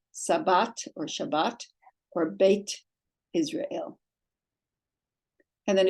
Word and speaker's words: Shabbat: or Beth Israel but today it would be pronounced Sabbat or Shabbat or bit Israel and then if you have